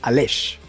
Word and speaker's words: Aleix: estuve yo practicando Cómo se pronuncia ales al Exacto bien lo he dicho bien ales